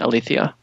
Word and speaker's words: Aletheia: that I've spoken to that is the proper pronunciation Alethea hey listen man so how does ilithyia work